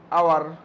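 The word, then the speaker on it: hour: আমি যদি বলি যখন লেখা আছে প্রথমে এটার উচ্চারণটা কীভাবে লেখা আছে, এইচ ও ইউ আর, আওয়ার, ওটা তো আমরা হাওয়ার উচ্চারণ করি না, এইচের উচ্চারণ হয় কিন্তু উচ্চারণ আমরা আওয়ার করি, সরেয়া।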